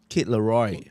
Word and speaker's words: Kid Laroi: Kid Leroy. Kid Leroy. Stay Kid, as in like small kid. Oh, Kid Laroi. Yeah. Yeah, it's spelled a bit funny one. It's not like Leroy.